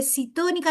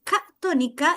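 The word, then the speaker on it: ctónica: Catónica significa, aquí voy a explicar una palabra que la gente no sabe ni cómo pronunciarla, llega y dice citónica, no, es catónica, ya de hecho debería ser con K, es catónica, que significa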